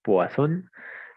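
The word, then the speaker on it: Poisson: el que está escrito se puede leer como puo otros le dicen poon otros le dicen poison por si acaso lo miran en algún video y demás listoo depende de quién lo pronuncie pero en última es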